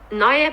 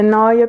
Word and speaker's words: Neue: How do you pronounce that? Neue Pinakothek.